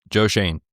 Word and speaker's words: Joe Schoen: Joe Schoen is how you say it.